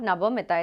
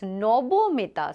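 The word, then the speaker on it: Nabamita: Like my name, it is supposed to be pronounced as not Nabomita, it's Nobomita. So same way we can also say ion exchange method.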